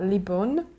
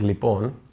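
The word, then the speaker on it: λοιπόν: Greek word which is uh libon if I'm saying it right absolutely the the word is lipon and the closest thing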